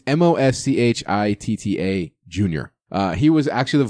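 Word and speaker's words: Moschitta: I might butcher this John mashita mashita you probably butchered it mo Shanna it's mo SCH ITT a junior he was actually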